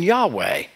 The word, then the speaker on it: Yahweh: word we don't know if the first letter is pronounced j as in jehovah or if it's pronounced y as in yahweh it can be pronounced either way that little bit of